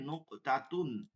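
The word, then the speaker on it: نقطة: ভালো লাগবে নোক নোক কফটা হচ্ছে আপনার কলকলা হবে নুকতাতুন ঠিক আছে নুকতাতুন এটা হবে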